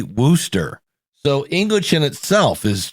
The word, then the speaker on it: Wooster: a half from me spelled w-o-ooster a lot of people pronounce Worcester it should be Wooster so English in itself